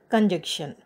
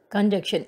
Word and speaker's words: conjunction: Now, let's go for the seventh one, conjunction. Conjunction, N is here silent, second N is silent. We don't say, we don't pronounce it like conjunction, okay, conjunction.